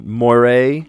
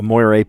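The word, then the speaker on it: moiré: So, Moira, actually Moira, I think has an accent on the E. Um, a Mooray pattern.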